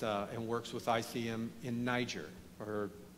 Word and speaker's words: Niger: works with ICM in Niger or you know some people pronounce it nice year but we're in the u.s. so he's from Niger's name is I don't